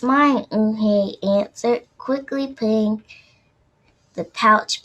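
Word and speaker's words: Hei: no okay correct it it spelled you in h-e-i it's pronounced okay oh okay the boy said like you hey what about hey you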